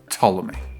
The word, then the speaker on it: Ptolemy: Now, it's actually spelled like Ptolemy, but I guess it's a silent P because it's just Ptolemy.